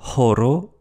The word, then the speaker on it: horo: Le H est expiré comme en allemand ou en anglais, et sa prononciation n'est pas facultative. H, comme dans horo, heure, parce que horo, ça veut dire or.